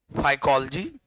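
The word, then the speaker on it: phycology: study of एल्ग is called study of एल्ग is called फाइकोलॉजी या फाइकोलॉजी real pronunciation फाइकोलॉजी study of एल्ग इज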